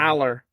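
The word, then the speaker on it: Allar: Hour. Hour. Aller.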